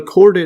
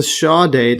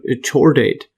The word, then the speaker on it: chordate: to make a note here and uh this cord date I've been calling it cord date if you check the pronunciation sha date yes say shaw date and if I Google it or the pronunciation